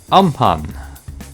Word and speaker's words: Amphan: on a tropical cyclone um pun I believe it is pronounced by now I think